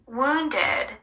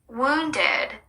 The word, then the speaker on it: wounded: wounded wounded 찔린 부상을 입은이라는 뜻이고요. 입술을 동그랗게 말아서 길게 우하고내는 소리입니다. 마지막 D는 짧게 다치는 소리로 살짝만 내 주시면 되겠습니다.